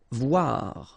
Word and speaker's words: voir: Voir, okay, same thing here, OI, OA, voir.